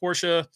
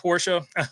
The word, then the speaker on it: Porsche: out over there here's a new link it's pronounced Porsche not Porsche says Bo Arville uh Discord link there's the